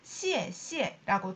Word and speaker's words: 谢谢: 중국어에서는 같은 단어가 이렇게 연달아 나올 경우에는 뒤에 단어를 경성으로 툭 그냥 읽어주는 경우가 많아요. 그래서 원래는 사성이나 시에시에라고 연달아 나올 경우에는 뒤에 성조는 경성으로 합니다. 그래서 시에시에라고 다 살려주는 것이 아니라 시에시에 고마워.